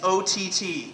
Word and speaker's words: Ott: I just reiterate, yes, it's O-T-T. 3 letters, rhymes with Scott.